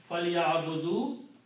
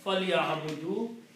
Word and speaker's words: فَلْيَعْبُدُوا: So the word is فَلْيَعْبُدُوا, and we just write one alif which is not pronounced for writing purpose at the end. فَلْيَعْبُدُوا, so that taqe, they should worship.